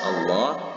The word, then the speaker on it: Allah: Pada kalimat ini itu terdapat ada lafzul zalalah, lafaz Allah yang didahului huruf waw yang berbaris fathah atau atas. Maka ini cara membacanya, lafaz Allah ini dengan membaca tafkhim, yaitu secara tebal.